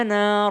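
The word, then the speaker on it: أنا: Nah, untuk jamaah yang ada di rumah, pemirsa Cahayati Indonesia, setiap ada kata ana, itu pasti tulisannya panjang. Ana, tapi bacanya pendek.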